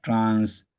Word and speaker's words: transportation: For example, if you have a word like this, transportation, transportation. The rule says stress the penultimate syllable.